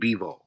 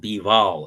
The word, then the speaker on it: Bivol: Well, what people would say, what's his Beterbiev and Bivol. That's the right pronunciation of their name. I say Beterbiev and Bivol.